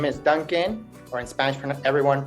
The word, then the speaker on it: Duncan: Hi everyone, my name is Duncan, or in Spanish everyone pronounces my name Duncan, so you can call me Duncan or Duncan Tonatiuh.